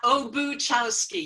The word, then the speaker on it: Obuchowski: my name is OBU chowski you pronounce it just like you see it I know a little